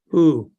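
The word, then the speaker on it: הוא: you read that Maria that's a there's an H sound that's a vowel it's an ooh sound it's an olive at the end of the word it has no sound so you ignore it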